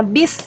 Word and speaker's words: bus: keselamatan dalam bis nah ini bus tulisannya adik-adik tapi kita biasanya bacanya bis ya melakukan perjalanan dengan